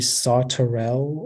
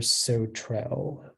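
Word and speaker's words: sauterelle: pronunciation one more time it can be saw Terrell or so Trail s o t U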